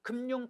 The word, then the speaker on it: 금융: 특히 이거 검열, 검열, 금융, 금융도 모두 가능합니다. 그래서 꼭 외우셔야 합니다. 특히 이거 시험에 잘 나옵니다. 검열의 발음법, 금융의 발음법. 니은을 첨가시키는 검열, 금융과 니은을 첨가시키지 않고 발음하는 검열, 금융 모두 맞습니다.